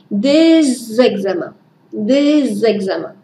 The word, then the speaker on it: des examens: Des examens. Vous savez que la liaison avec la lettre S se fait en Z. Des examens.